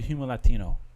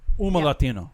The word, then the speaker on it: Humo Latino: How did you So, I know you reached out to Huma Latino. Uma Latino. Yeah. Remember in Spanish you never pronounce the H.